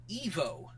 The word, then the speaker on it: Ivo: In fact, it's because of this show that Robotnik's name in the movies is pronounced Ivo, because his name was supposed to be Evo.